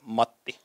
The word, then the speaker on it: Matti: Americans say that my name is Matti. It's not Matti, it's Matti.